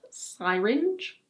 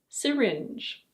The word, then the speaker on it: syringe: It's not "sai-ringe". It's: syringe.